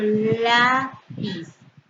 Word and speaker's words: lápiz: Por ejemplo, lápiz. Su sílaba tónica sería la penúltima, es una palabra llana o grave.